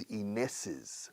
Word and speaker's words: Inés's: It was Inés's fault. Fíjate como apóstrofe S después de Inés, añade una sílaba.